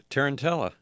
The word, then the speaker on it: Tarantella: Tarantella.